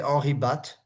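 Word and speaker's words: Henri Bate: No, it would be, I think in French we say Henri Batt, Henri Batt, Bat.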